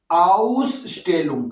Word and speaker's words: Ausstellung: दी आउसटेलुंग कहते हैं नुमाइश को, क्या कहते हैं, दी आउसस्टेलुंग, ठीक है, आउसस्टेलुंग। इसका जो स्पेलिंग जरा देख लेते हैं क्या लिखे, आउसस्टेलुंग,